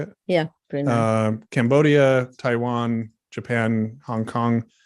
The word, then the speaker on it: Brunei: Brunei.